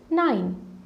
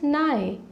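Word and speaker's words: nine: So similar to 5, there is no silent letter in N-I-N-E 9. It is 9. Some people call it as nigh. I don't know why this confusion arises. However, you need to be very careful that you are pronouncing it as 9.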